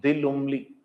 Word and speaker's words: Lumley: Mary Antoine de Lumley.